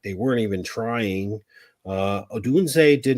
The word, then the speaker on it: Odunze: Odunze. O'Doomsday. Sorry. Yes, you got it. I always add an extra D in there.